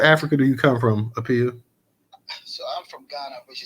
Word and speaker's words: Aappiah: Is it Aappiah or Aappiah? I think you said it right. Actually, it's Aappiah.